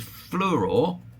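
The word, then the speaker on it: Fluor: And Fluror, which is spelled like flower but like a dyslexic would spell it, um is a example of a company that's made a few slips.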